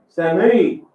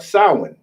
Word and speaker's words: Samhain: In modern times, Samhain, a Gaelic word pronounced Samhain, is usually celebrated from October 31st to November 1st.